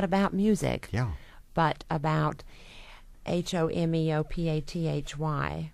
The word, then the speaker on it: homeopathy: of them not about music yeah but about h o m e o p a t h y m how do you say that I don't